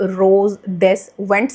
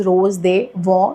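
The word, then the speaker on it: Rose des Vents: Which is this रोज दे वॉ, वैसे तो रोज डेस वेंट्स लिखा हुआ है इस पे, बट जिसकी प्रोनाउंसिएशन है that is रोज दे वॉ, which is ऑफ कोर्स inspired by Louis Vuitton का रोज दे वॉ।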